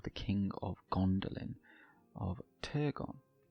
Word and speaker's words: Turgon: king of Gondolin, of Turgon. Or if I'm going to say it properly, Thorgon, but it just sounds pretentious when I say it like that.